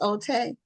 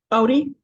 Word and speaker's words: Ote: So, um, but and your last name is is pronounced OT OD.